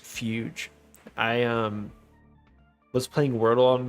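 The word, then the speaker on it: fugue: Oh wait, I know that's pronounced fuge.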